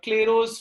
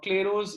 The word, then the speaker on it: Clairaut: we call as the Clairaut's form or Clairaut's equation. Please note the pronunciation is Clairaut. Clairaut. It is written as Clairaut's, but it is pronounced as Clairaut.